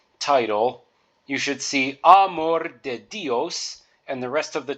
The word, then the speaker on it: de: a more Amore then the next word is De and you can pronounce that de so think of e as in deck neck or heck so here's a context